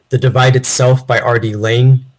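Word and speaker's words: Laing: Divide Itself by Rd Lang and Lang is spelled l a i n g oh read that Lang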